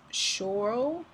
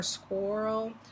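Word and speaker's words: Schorl: tourmaline has also been called Shore or squirrel not sure if I'm pronouncing that right but it's s CH o RL black tourmaline is really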